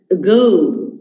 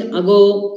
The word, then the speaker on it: ago: So whenever you come across a schwa sound, make sure that you are not stressing it. So we pronounce it as ago. We don't say ago, about, again.